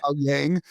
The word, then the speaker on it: Owyang: Jeremiah, thank you for properly pronouncing your last name, Jeremiah Yang.